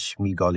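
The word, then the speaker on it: Sméagol: But he says Shmeiggall. He doesn't say Schmeiggel. Okay. I always pronounce it.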